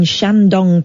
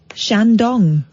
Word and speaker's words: Shandong: But authorities in Jinan, a city of around 8.7 million people in Shandong province... Well, don't say it like that. Shandong. You just emphasise the word dong.